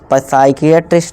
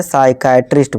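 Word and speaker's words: psychiatrist: इस तरह से साइकियाट्रिस्ट नहीं, इसे साइकाट्रिस्ट बोलेंगे, ठीक है।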